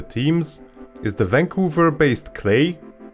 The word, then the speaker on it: Klei: is the vancouver based clay it rhymes with play this knowledge also leaves